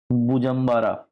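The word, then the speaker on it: Bujumbura: मैं उसमें भी आऊंगा सो बुरुंडी का कैपिटल आपका पड़ता है बुजरा स्पेलिंग लिख लो इसमें बी यू जे यू एम बी ए आर बुजरा एक और कैपिटल है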